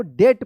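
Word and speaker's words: debt: डी ई बी टी क्या पढ़ेंगे इसको? डेट पढ़ेंगे। देखिए यहां पे एम नहीं है। फिर भी यहां पे क्या है कि बी साइलेंट है।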